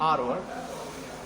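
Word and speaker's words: our: आवर वर्क इसलिए हो जाएगा क्योंकि वी के साथ अपना के लिए आवर लगता है, आर जिसे हम प्रोनाउंस करते हैं आर वर्क।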